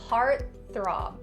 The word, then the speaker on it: heartthrob: And after stopping the T sound, you're gonna go directly into the TH. Heartthrob.